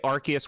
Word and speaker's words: Arceus: Now, see, I go by, like, if they're going to say Arceus when they're talking about Legends Arceus in, like, a trailer, then it's like, to me, that's the pronunciation.